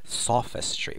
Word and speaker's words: sophistry: So the host of the show is wondering whether Professor Richard Dawkins believes that this lady has just employed sophistry, with stress on the first part.